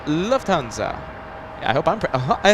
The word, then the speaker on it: Lufthansa: thank you so much Luft in German means air hanza in German means Guild so it's pronounced Lufthansa I hope I'm PR